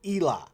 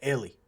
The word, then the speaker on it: Elie: Now, the only reason I know how to pronounce that is because I I looked at the comments. I'm not going to lie. And and you know, a lot of people getting upset. This dude's calling it Ellie.